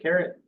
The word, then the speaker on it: caret: Other than that, sometimes you'll see things written out with this little symbol right here that's called the caret. Not spelled like, vegetables, spelled funky.